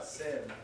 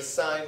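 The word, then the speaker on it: sine: Sim. No, it's pronounced sign.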